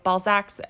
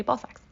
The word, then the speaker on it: Balzac's: fun of me because i apparently don't pronounce my a's correctly being canadian she calls it balzac's um i swear it's called balzac balzac and then she just says i say ball sex so that is that